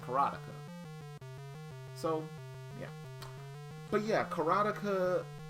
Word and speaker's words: Karateka: first things first um I didn't realize that this was pronounced carotica when I was much